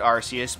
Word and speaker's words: Arceus: the uh god above mr arceus or arceus however the hell you pronounce it i pronounce it arceus because you know that's the correct way to pronounce it just just saying um